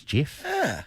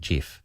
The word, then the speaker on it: GIF: thought by the way one of the best tributes would him would would be for actually to pronounce it gif that's what he wanted and everyone pronounce it a lot of people pronounce it gif wow I want just a tribute to the man who invented it would be to actually call it by its real name but call me a